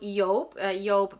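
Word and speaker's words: Yope: Next up, we're going to talk about Yop because it rhymes with soap.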